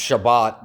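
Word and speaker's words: שבת: See, it says it's spelled S HBI, but Sabbath is pronounced Shabbat.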